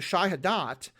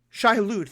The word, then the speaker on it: Shai-Hulud: connected with the worms, the Shai-Hadat. I'm probably pronouncing that wrong. Shai-Hulud, thank you.